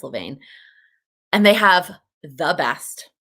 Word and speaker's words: Levain: how to pronounce it it's l-e-v-a-i-n i think it's levaine and they have the